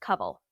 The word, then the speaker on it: Kawal: for anybody listening, your name is spelled Kawal. Yeah. But pronounced Kaval.